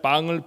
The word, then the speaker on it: pain: 그래서 유럽의 빵을 표현하는 단어들은 비슷비슷합니다. 프랑스어로는 영어 철자로는 PAIN이라고 쓰고요. 우리하고 똑같은 발음 빵 그렇게 읽습니다.